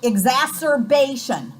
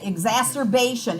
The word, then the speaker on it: exacerbation: about corticosteroids correct okay exacerbation that's how you say it exacerbation it is a flare-up